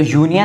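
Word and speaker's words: union: अब देखिए होता क्या है, यूनियन, तो यूनियन में हम हिंदी का प्रोनाउंसिएशन पे ध्यान देंगे।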